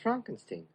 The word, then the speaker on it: Frankenstein: Brooks with Young Frankenstein it's pronounced Frankenstein another black and white